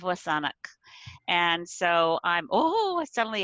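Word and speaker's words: W̱SÁNEĆ: the whole saanich peninsula saanich is an anglicized mispronunciation of wasanak and so i'm oh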